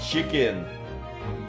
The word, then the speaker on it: Hikin: His name is Chicken. Hikin. It's pronounced the same way as Chicken.